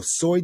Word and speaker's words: soy: All right, so aquí tenemos yo soy de. Repita, yo soy de. That soy is pronounced exactly like the stuff that you put on an egg roll or fried rice.